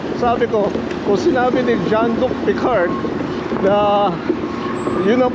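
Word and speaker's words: Jean-Luc Picard: Luke rard so Sabi ko Kung sinabi ni John Luke picard na yun ang pronunciation you make it so for crying Out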